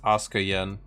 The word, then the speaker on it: AsukaYen: to respond immediately uh my username is actually pronounced ASA Yen but a lot of people just say Asuka turn that off all